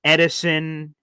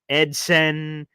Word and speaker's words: Edson: butchered for centuries Edson Edison Edson again it's just an S pretend it's a z ASD Paul ASD but